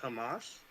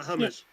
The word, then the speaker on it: Hamas: people what is uh I believe pronounced Hamas or not hummus not humus is yeah so is